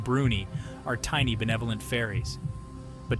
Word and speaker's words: brownies: the heart of Scotland brownies pronounced bruny are tiny benevolent fairies